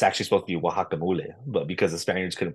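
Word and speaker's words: guacamole: we say today in English are because was mispronounced you know what I mean like wacamole for example it's actually supposed to be wakamole but because the Spaniards couldn't pronounce it we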